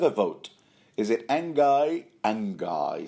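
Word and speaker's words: Anguy: So the singer goes, look, boy, put down the sword, or Angai here. That's the archer's name, yeah? Angai. Unless you want to pronounce it sort of like French, start Ongi.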